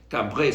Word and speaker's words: Cambray: Se escribe Cambray, Cambrey se pronuncia, pero bueno, se lee Cambray.